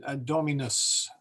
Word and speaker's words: Dominus: of saying Dominus uh it should be more like Domin Dominus the the U is short um that's a little hard for us or at least hard for me um but you want to try and make that vowel short and it shouldn't like you know this means the Lord and you really want the name of the Lord rhyming with moose um I don't